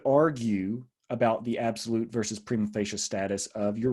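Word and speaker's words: prima facie: one distinction a second distinction is absolute versus primo facial rights that's how you pronounce that second word it's latin it means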